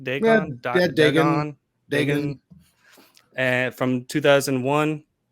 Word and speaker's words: Dagon: Is that correct pronunciation? Dagon? Yeah, Dagon.